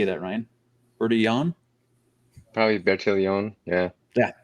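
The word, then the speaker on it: Bertillon: anthropologist i don't speak french so forgive my pronunciation but alphonse berto uh how do you say that ryan bertie yawn probably better leon yeah yeah there you go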